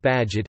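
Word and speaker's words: Bagehot: 150 years ago by Walter Badgett pronounced Badgett is to lend freely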